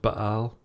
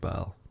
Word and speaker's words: Baal: Now, before we carry on, yes, it should be pronounced Baal, but the planet in Warhammer 40,000 or system, to be prefer, is just pronounced Baal. It doesn't have the glottal stop in the middle.